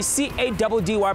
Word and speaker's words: Caddy: Your boy C-A-D-D-Y pronounced Caddy.